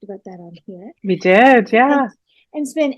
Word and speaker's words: Dix: Sophie D, is that how you're pronouncing it? D? D-I-X? Yeah.